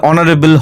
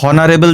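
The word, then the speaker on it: honorable: না, বা এর বলছে, তারপরে অনারেবল, হনারেবল তো বলি না, অনেস্ট বলি, হনেস্ট তো বলি না, উচ্চারণটা কি? অনেস্ট, অনারেবল, ঠিক আছে, অনারারি, আওয়ারলি, এগুলো তো আমরা এইচটা মিউট থাকে, সেই ক্ষেত্রে যখন এরকম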